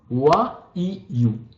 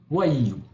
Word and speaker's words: wayu: Alors, on le prononce wa-i-yu. Wa-i-yu.